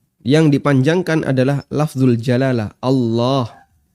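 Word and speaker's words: الله: Kalimat takbir Allahu Akbar yang dipanjangkan adalah lafzul jalalah Allah. Dan Allah kalau pakai standar tajwid berarti dia dibaca tafkhim Allah. Yang kedua, panjangnya 2 harokat. Allah 2 harokat.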